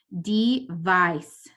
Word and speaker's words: device: word I have is D I is gonna have a long I sound and this next part C II is actually going to sound like an S device device device this next word I